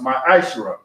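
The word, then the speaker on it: מעשר: Means tenth in Hebrew and is pronounced ma'ashra.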